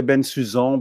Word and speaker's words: Bensusan: it's okay you know there are many ways to go dance it in French oui people say been suz on but in English you'd